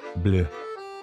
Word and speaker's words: bleu: Blue sounds almost the same in English as it does in French. Bleu. Bleu.